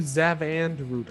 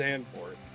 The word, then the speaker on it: Zandvoort: I want to do Zavandroot, and I don't I think know why. it's Zandvoort.